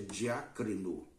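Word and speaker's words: διακρίνω: Também, como nos informa a nossa revista, há um verbo que em grego se pronuncia diácrino.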